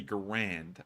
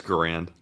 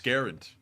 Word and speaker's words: Garand: walked up she's like I wanted to correct you it's actually Grand and I was like oh that's like he's right and when she's right yeah it's Grand it's not it's garant it's Grand I guarantee you it's